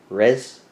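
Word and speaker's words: Reims: i'm using my lips you say red like not you don't roll the r all right like it's in the back your throat all right red res and the m is silent so it's like res with the back of your throat r right something like that i i can't speak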